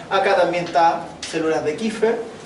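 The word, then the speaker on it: Kupffer: Kupfer se escribe, se dice Kiefer.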